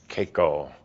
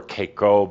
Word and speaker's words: Kaiko: may sound a little familiar the word is Koo also spelled or pronounced kho but I prefer Koo because somebody's going to take the word K